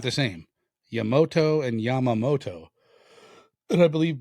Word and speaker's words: Yamato: Oh, that's how you pronounce it. Yamato. Yamato.